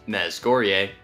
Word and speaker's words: Mezhgorye: Mezghor, pronounced Mezghorye, although I kind of like the sound of